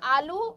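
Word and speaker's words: ALU: কি রয়েছে এল ইউ এল ইউ কি হচ্ছে উচ্চারণ আলু এই আলু কিন্তু সেই আলু নয় এটা হচ্ছে কম্পিউটারের আলু কি এই এল ইউর ফুল ফর্ম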